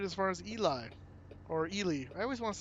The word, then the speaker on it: Ely: We only made it as far as Eli or Ely. I always want to say Eli, and it's not Eli.